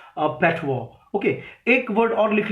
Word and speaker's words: patois: ठीक है, एक वर्ड और लिखिए आप, that is पैटवॉ, PATOIS, PATOIS, we pronounce it पैटवॉ। Okay, पटॉइस नहीं बोलना है इसको, वी प्रोनाउंस इट पैटवॉ।